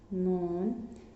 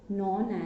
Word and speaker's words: known: From next paragraph we will write with capital letter, product made from milk are known, in this word K is silent student, so we called it known as dairy products.